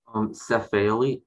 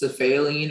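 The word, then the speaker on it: cephaeline: Cephaline, can I have all the information, please? Yes. The word can be pronounced cephaline or cephaline.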